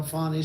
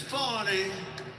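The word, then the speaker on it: Fani: hear you long and you know fonnie spelled f a n i yeah I hear you long beard my name is fonnie f a n i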